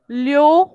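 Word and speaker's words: Löwe: Okay, medicine, लियो, लियो यानी lion, so that उमलाउट का जो प्रोनाउंसिएशन है वो आना चाहिए आपको। ओके, अगर आप यहाँ पे सिर्फ लो ऐसा बोलेंगे तो उसका मीनिंग अलग हो जाएगा।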